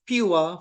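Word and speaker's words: PUWER: of work equipment regulation this is pronounced pure for short right we we use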